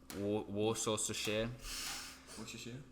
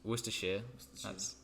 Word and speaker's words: Worcestershire: found something no pretty much no Australians can pronounce Worcestershire I've heard it for nowt so many times like war sauce to share water that's another one yeah Worcester Worcestershire that's one yes that's the correct this twister